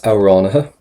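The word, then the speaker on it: amhránaithe: We have, you can say, is auránatha, profisiúnta iad. Auránatha, and you notice again, we're not pronouncing the TH towards the end there because they're always silent.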